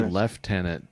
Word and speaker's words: lieutenant: Somebody thought that they said left tenant in the in the British military because of the way it's spelled. No, they say left tenant because they just do.